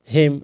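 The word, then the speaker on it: hymn: होता है धिक्कार ना हिम एच वाई एम एन ठीक है एन का उच्चारण नहीं होगा हिम अनि म इसको सोलम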